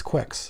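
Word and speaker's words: Qix: how you pronounce it it's not kicks it's quicks it's not like the cereal my friend introduced me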